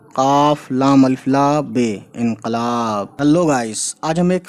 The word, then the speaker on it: انقلاب: یہ لیا گیا ہے عربک ورڈ سے اردو میں آیا ہے، یہ ہے نا انقلاب۔ انقلاب اصل ورڈ کا تلفظ ہے انقلاب، ٹھیک ہے، جس کا